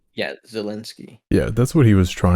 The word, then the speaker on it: Zelensky: Wait, so is that how you pronounce his name? yeah, Zelensky.